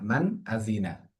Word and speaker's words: من أذن: আজিনা, মান আজিনা, নুন সাকিনের পরে হামজা এসেছে, হামজাও কি ইজহার ছয় হরফের একটি হামজা, যার কারণে গুণা ছাড়া স্পষ্ট করে পড়তে হবে।